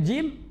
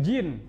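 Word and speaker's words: جيم: itu gym Tanda itu jim jim nya bacanya bukan jin Hai Yono Karyono Papa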